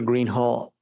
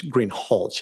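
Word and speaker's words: Greenhalgh: you can inquire thank you your honor officer Greenhall I believe I'm mispronouncing your name it's green hch isn't it correct okay I apologize will you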